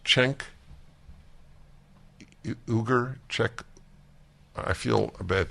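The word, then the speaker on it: Cenk Uygur: know Barren media okay it's just being pronounced chenk ooger check I feel a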